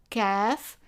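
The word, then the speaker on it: كاف: The first letter here has an equivalent in English which is K, and the name of it is kaaf, and the sound is K, just like as in K in English.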